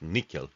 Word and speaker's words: N1QL: on sql plus plus the former n1 ql pronounce nickel and nothing else I